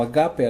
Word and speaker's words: ágape: viene del original en griego ágape o a cape algunos lo pronuncian así esta palabra se usa